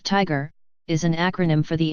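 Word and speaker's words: TIGHAR: found the crash site tyre pronounced Tiger is an acronym for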